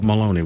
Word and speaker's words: Molony: Think of baloney, but Molony with an M, right? Molony. No, it's spelled like colony. That's a better way. That's a better way. You're right. Colony's a much better way.